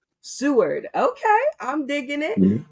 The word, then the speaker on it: Seward: Seward. Seward.